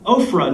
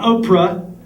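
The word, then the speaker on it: Ophrah: beneath a great tree at ofra not Oprah phonic pH ofra which come on that was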